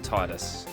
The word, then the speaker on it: Tidus: never say his name i believe the proper pronunciation is tidus i myself i'm a